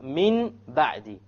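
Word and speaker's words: من بعد: Here we have Min Ba'di. Min Ba'di. We have Noon Sakin followed by a Ba. How do we pronounce it?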